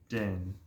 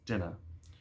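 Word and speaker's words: Dynne: a character called The Den all uppercase when his name shows up d y n NE e is his name and in my head I kept pronouncing as dinner um but it's den and they point out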